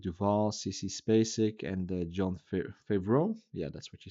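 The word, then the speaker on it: Favreau: We have Robert Duval, CeCe Spacic, and John Favro.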